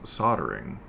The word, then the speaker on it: soldering: more distinct tools through see I would say that as soldering is soldering spelled with an L.